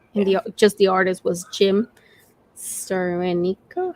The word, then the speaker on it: Steranko: And the artist was Jim Sterenico. How do you pronounce his name? Steranko.